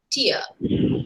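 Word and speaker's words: tier: how we say but the actual pronunciation is tear tears it doesn't have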